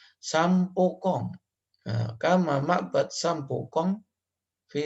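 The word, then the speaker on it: Sam Poo Kong: Misal kama seperti ma'bad Sambu Kunj. Ini bacanya bukan Sambu Kunji, tapi Sampokong.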